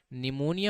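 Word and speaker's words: pneumonia: हम क्या बोलते हैं निमोनिया होता है बेटा पी से स्टार्टिंग होती है इसकी ठीक है तो हम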